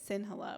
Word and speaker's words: Sinhala: It's how you say it, Sinhala, which is the language that Sinhalese people speak.